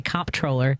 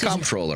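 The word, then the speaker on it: comptroller: like who I'm like if I say honestly it's slight different than I say comp troller right people are like oh and the comproller the com troller it's way it's spelled just but she'll be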